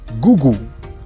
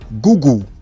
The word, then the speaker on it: Google: Number 3, gugu. Google. So you're going to hear Nigerians say Google, Google. But the correct and British standard pronunciation for this word is Google, Google, Google.